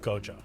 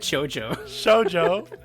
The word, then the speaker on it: Gojo: I love Gojo. I know earlier on I didn't pronounce his name properly. Yeah, you said Shoujo. Shoujo.